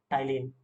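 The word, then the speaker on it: ptyalin: आपका trypsin, amylase, lipase, टाइलिन, पालिन लिखा है बट यहाँ पे पी साइलेंट होता है, तो टाइलिन जो होता है यहाँ पे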